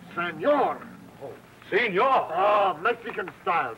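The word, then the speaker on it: señor: How do you say senior? No, no senior. Senor.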